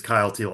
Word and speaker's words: Teal: All right, number one, I gotta imagine rhymes with smile meal. Um, correct? It does. It does. Yeah. Number one right now is Kyle Teal.